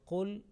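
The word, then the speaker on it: قُلْ: Okay, the last line, here again the word qul, lam, sakin, followed by ya, yajma'u, and lam is not dropped, and it is properly manifested, is clearly pronounced, is idhar, not is idgham, it's not merged. So qul yajma'u baynana rabbuna.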